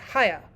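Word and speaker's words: Haigha: happy his name is hayah he pronounced it so it's to rhyme with mayor i love my love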